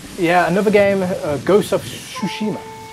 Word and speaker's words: Tsushima: Yeah, another game, Ghost of Tsushima. It's a very hard one to pronounce because it's got a silent T, Tsushima.